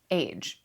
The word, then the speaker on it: Aje: How to pronounce A-J-E. Oh, it's just Age.